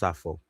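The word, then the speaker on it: Sappho: Um I believe it's pronounced Safo. Um I believe it's pronounced Safo.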